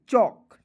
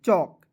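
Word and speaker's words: chalk: बताया आया height C एच ए एल के चौक चल के नहीं पढ़ेंगे चौक ब्लो बी देखिए बी ओ डब्ल्यू तो बो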